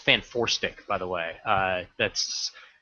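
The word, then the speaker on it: Fant4stic: out and and that is supposed to be pronounced fan foric by the way uh that's that's how I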